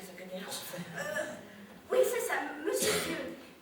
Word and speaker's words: Dieu: Oui, c'est ça, Monsieur Dieu. Comme ça se prononce, hein.